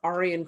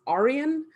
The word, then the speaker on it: Arian: originating preacher, Arius, as Arian Christianity. Really quickly, I want to note, this is Arian, not Arian. So this has nothing to do with Iranian peoples or white supremacists. This is Arius Arian.